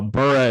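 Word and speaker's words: Burreaux: LSU Jersey that's uh burra is spelled Cajun style b-u-r-r-e-a-u-x actly exactly so that'll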